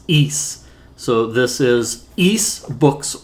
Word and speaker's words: Ys: of trouble with it just think you're saying geese or like the country of greece but it's just it has no uh has no g in it so you just say it's east east east and there